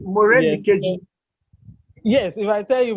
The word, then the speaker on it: Morenikeji: So this is Morenikeji. Wait, which one is that one? Morenike. Yeah, actually, that's a long form of calling my name. Actually, It's Morenikeji.